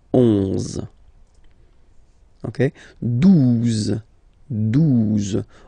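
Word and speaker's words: douze: exist phonetically, 11, okay, 12, 12, O, U, the two together will give you the sound OO, okay, and then Z, 12, 12, alright, then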